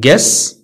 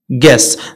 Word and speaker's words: guess: often often silent u u is not pronounced after g and before a vowel يعني u ما كتنطقش من بعد g وقبل من واحد الفاول بحال عندنا guess guidance guitar guess انت هادو كتعرفهم يعني